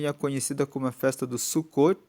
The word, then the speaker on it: Sucot: como a festa do sucot se escreve sucote com tem mudo suu c o t e significa que eles